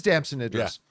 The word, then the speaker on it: Damson Idris: Brad Pitt and how do you pronounce the name? Damson Idris. It is Damson Idris.